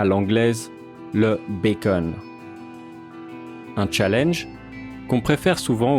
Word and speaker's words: bacon: Le bacon vient de l'ancien français bacon, qui aujourd'hui n'est plus qu'exclusivement prononcé à l'anglaise le bacon.